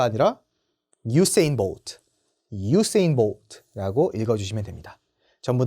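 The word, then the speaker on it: Usain Bolt: 100m, 200m, 400m까지 다 제패를 한 자메이카의 전설적인 육상 선수 우사인 볼트가 아니라 유세인 볼트라고 읽어주시면 됩니다.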